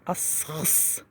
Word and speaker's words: Аскиз: По-хакасски Аскиз произносится асхс.